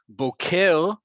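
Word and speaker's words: בוקר: Just know that it's Boker Tov, Boker, right? If the emphasis is on the second syllable, Boker is a cowboy, spelled the exact same way but pronounced differently.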